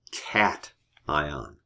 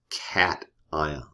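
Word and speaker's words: cation: The technical name for a positive ion is called a cat ion, like meow cat, right?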